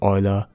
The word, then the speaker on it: Euler: to Euler to use Euler angles yes it is pronounced like that trust me order was from Switzerland